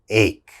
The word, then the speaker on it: ache: mispronounce this word uh this word has ch in it so a lot of my students say h okay that's wrong that ch has to have a strong k sound ache ache what is